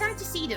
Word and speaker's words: antecedent: It's antecedent. I don't know why I say anticident. It's antecedent.